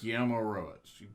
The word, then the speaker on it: Guillermo Rosas: Guillermo Rosas. Whatever. Think of, Guillermo del Toro.